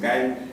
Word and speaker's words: Guile: A mí me gustaba mucho en Street Fighter agarraba al soldado, se llamaba Guile, le decíamos, pero el nombre real es Guile, pues como se pronuncia es Guile.